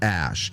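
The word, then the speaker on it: Æ: ] dumb as A2 the a e symbol is pronounced Ash and a12 is a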